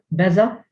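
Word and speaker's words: beża': Then there's also beza, which means to be afraid. Beza, which is pronounced as if there is no apostrophe, but when you conjugate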